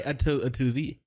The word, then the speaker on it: Atozy: The video we're gonna be checking out today is by Atozy. A to Z. I'm pretty sure that's how you're supposed to pronounce it.